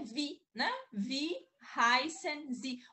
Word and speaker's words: wie: É, mais ou menos, ó, por exemplo, vi, né? O W-I-E, tem, a gente vai ver o alfabeto daqui a pouco, né? Então é vi, né?